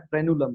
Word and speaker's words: frenulum: उस स्ट्रक्चर को हम लोग कह रहे हैं फ्रेनुलम।